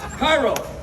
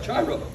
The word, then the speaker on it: Chiro: Cairo, where are you? Chiro. Okay, we'll pronounce it correct. Chiro.